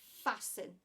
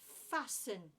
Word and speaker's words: fasten: Thum Thum fasten again there's another silent letter T we don't pronounce the T we do not say fasten we say fasten ignore the T fasten I fasten a seat